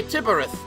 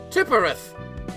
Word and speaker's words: Tiphereth: Why do people read tip with PH? I read an... When PH, I read an F. That's why I say Tiphereth. Tiphereth.